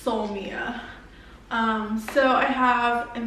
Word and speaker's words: Soulmia: be a two-part series the company is called soul mia or soul mia but i i think it's pronounced so mia um so i have